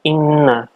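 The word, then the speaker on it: إِنَّ: Dari yang pertama, bacaan inna. Ini adalah bacaan gunnah, artinya dibaca dengan dengung, karena di sini adalah nun yang bertasdid. Ada dua huruf gunnah, yaitu nun tasdid dan mim tasdid. Dibacanya adalah gunnah, mendengung. Inna, 3 ketukan atau 3 harokat.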